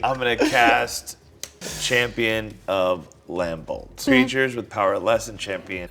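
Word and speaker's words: Lambholt: gonna cast champion of lambold strangers with power lesson champion of lambold's power can't block creatures you control I think the B is silent whenever another creature enters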